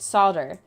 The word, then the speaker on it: solder: And solder, if that's the way you say it, solder, that's an American way of saying it, but it's the original form of it from the English language.